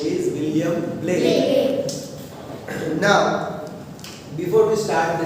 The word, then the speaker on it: Blake: William Blake. Not Black. It is not a B-L-A-C-K. It is B-L-A-K-E. So William Blake. Okay? Remember the pronunciation is also. The poet name is William Blake.